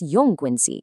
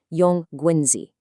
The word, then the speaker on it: 用棍子: And since 用棍子 can be a little tricky to pronounce, let's repeat it slowly 3 times to really lock it in. 用棍子, 用棍子, 用棍子.